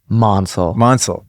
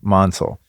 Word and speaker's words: Mansal: So tell me on the record and let me get it through my thick skull. Mansal. Okay. Like Hansel.